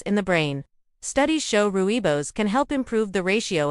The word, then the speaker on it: rooibos: Rooibos tea, the heart protector from South Africa. Rooibos, pronounced rooibos, comes from the mountains